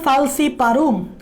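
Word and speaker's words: falciparum: Last one যেটা মারাত্মক, last one যেটা 3টার মধ্যে মারাত্মক, লাস্ট ওয়ান যেটা 3টার মধ্যে মারাত্মক, সেটা হচ্ছে প্লাজমোডিয়াম ফালসিপারুম। আমি মনে রাখার জন্য এভাবে উচ্চারণ করি, ফালসিপারুম।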